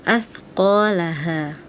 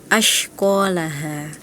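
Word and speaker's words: أَثْقَالَهَا: Kemudian yang terakhir, huruf tha dilafalkan seperti huruf shin. Itu ada di surah Al-Zalzalah ayat kedua, wa akhrajatil ardu athqalaha. Harusnya bacanya seperti itu, tapi tadi Ananda Raka dibacanya wa akhrajatil ardu ashqalaha.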